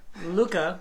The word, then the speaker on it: Luque: And I bet You pronounce names like Chael Sonnen. He still says Noons. Amanda Noons. Luke.